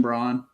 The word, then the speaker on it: Braun: is gonna be Christian Braun Christian Brown I never pronounced his name right I do it on purpose I know yeah it's brown but